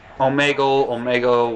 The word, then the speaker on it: Omegle: Omegle, whatever. Meagle? I pronounce it as Omegle because it's Omega plus something else.